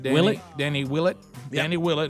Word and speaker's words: Willett: Willett.